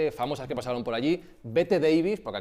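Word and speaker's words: Bette Davis: Lo primero, entre las figuras famosas que pasaron por allí, Bet Davis, porque aquí no se dice Beth Davis ni Betty Davis, dice Bet Davis, Carigran, Grace Kelly.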